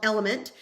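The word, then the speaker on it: LMNT: of mine is L it's called element but it's spelled with the letters l m n t it has more sodium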